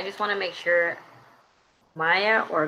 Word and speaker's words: Maya: i just want to make sure maya or mia how are we pronouncing your name correctly because i heard it different ways now i'm like wait am i saying it wrong um my name is maya maya okay got it thank you um the other